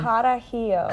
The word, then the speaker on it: Carajillo: coffee Manhattan and an iced, you'll have to pronounce that word for me. What is that one? Carajillo.